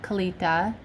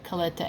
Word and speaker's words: Kalitta: I figured out that's how you pronounce it now, Kalitta, not Kalitta.